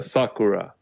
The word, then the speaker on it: Sakura: what's happening right yeah it's pronounced as uh Sakura I'm I'm I am